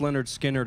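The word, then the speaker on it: Lynyrd Skynyrd: So, pronounced Leonard Skinner album.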